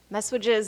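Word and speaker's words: messuages: words messages and tenaments messages is a very weird word it's like almost spelled like massages M SS u a g s messages I had to practice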